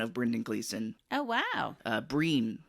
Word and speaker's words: Brian: Breen, I think is how you say it. They're I think Irish, but it's Brian, spelled like Brian, but I think you pronounce it as Breen.